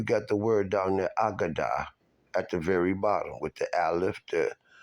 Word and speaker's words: Aggadah: The agadah, sometimes you'll see it pronounced as haggadah, because it's ha as the, okay?